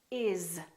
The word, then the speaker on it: is: we use every day that finish with the letter with the sound Z and they have a vowel before them here are some of those words is we don't say he is my friend we say he is my friend another word is was because these those please always so these are some very common words that we use all the time that are spelled with an S and pronounced with the Z sound alright let's practice some